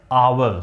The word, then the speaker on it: hour: Needs, since its pronunciation, since the letter H is silent and it is pronounced as hour, so we get the vowel sound, so we have to use an.